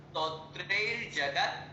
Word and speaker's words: स्तोत्रैर्जगत्: ठीक है, फिर आगे शब्द, अगला शब्द थोड़ा सा स्तोत्रैर्जगत्, स्तोत्रैर्जगत्, ई नहीं लगाना, स्तोत्र के पहले ई।